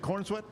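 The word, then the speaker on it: Corenswet: Uh 1993, David Corinsswat. Uhhuh. Is that how you say it? Corweat.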